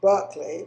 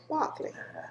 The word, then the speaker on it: Berkley: He pronounces it Berkley, but in England we pronounce it Berkley.